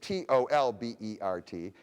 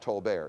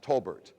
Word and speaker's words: Tolbert: name is william and his name rhymes with claudette colbert only his his name is t-o-l-b-e-r-t it's pronounced not tolbert it's pronounced tolbert his name is william